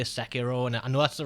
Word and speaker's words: Sekiro: fan of uh i call it i'm gonna mispronounce this i know you say sakiro and i know that's the right pronunciation but for some reason i always call it sakiro and i learned a little bit of japanese